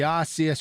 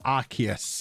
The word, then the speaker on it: Arceus: The Arceus, or Arceus, I'm apparently educated, it's supposed to be pronounced.